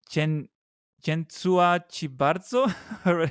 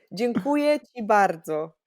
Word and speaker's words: Dziękuję ci bardzo: How do you say it? Uh Chen Chentsua Chibarzo? Oh, this is so sweet. Dziękuję ci bardzo. Dziękuję Thank ci you so bardzo.